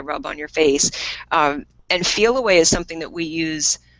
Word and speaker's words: Feliway: There's also a product we didn't mention today called Feel Away. And Feel How do you Away spell that? it is Feliway. Feel Away is a really neat product that came about